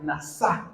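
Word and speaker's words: נסה: El significado de prueba, la palabra prueba es la palabra hebrea nasá, con acento en la.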